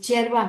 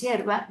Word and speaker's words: hierba: llegan y azúcar, coca, hierba está mal escrito, es cherva. mate. Lo que pasa que les cuesta pronunciar la griega, es hierba.